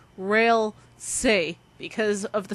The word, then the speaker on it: Ralsei: they're online trolling and most likely this character's name is pronounced as rail say because of the spelling